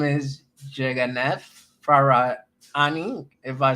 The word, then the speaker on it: Yeganeh Farahani: So you actually pronounced my name quite well. I'm Yeganeh Farahani, and I live in Iran.